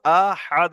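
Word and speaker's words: أَحَدٌ: হামজা জাবার আ, হাদ আল জাবার হাদ। আহাদ। সবাই বলেন, আহাদ।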